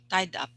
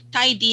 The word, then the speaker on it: tidy: just noticed that um most of you are saying tidy up okay with just like just one syllable tied up so it's like tied up so tidy up okay so that's the app yeah so because the idy and then up right so tidy tidy has two syllables okay tidy up okay